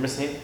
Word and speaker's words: Racine: Well, I'm from Racine. Yeah. You're from Racine? Yeah. Learning something new. Man. Right. And we both pronounce it correctly, as you can tell.